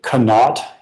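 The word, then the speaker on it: Conaught: Gumby was the owner of the company of and the company is I'll spell it for the core but also pronounce it canot. C O N A U G HT.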